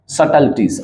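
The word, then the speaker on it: subtleties: और क्या है कि फॉल्स सटल्टीज, अच्छा इसमें बी जो है ना, तो आप कहोगे ये साइलेंट है, बी को नहीं बोलना है।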